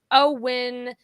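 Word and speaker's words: OWYN: yeah but anyway uh o w y n pronounced o win stands for only what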